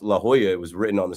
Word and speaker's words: La Jolla: insult my intelligence because I didn't know La Jolla out in California was, pronounced La Jolla.